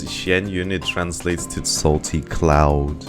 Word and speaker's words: Xianyun: Because the first bit, Xian in Chinese, is, if pronounced in that particular way, just means salty. And then Yun means cloud.